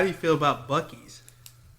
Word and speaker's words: Buc-ee's: how do you feel about Buc-ee's? Boosies?